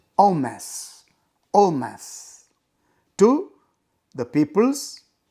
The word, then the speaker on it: en masse: The word that is given there is normally pronounced as en masse, but the French pronunciation is en masse, en masse, to the People's Alliance Party.